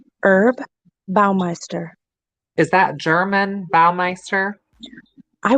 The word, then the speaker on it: Baumeister: But when you talked about doing a special on another serial killer, yeah, my uncle Roger Goodlet was one of, it's pronounced Herb Baumeister, one of his victims here in Indiana.